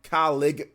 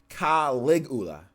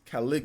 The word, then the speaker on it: Caligula: Lulla colleg ha ligula colleague hula-hula Caligula Caligula callek Caligula k Caligula Caligula they Caligula affect okay there you go Caligula effect colleague not Cali gula Caligula effect okay nice